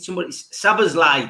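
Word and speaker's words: Szoboszlai: Lime, Sablozli, was it what got pronounced last night? Sabazlai, that was it, Sabazlai.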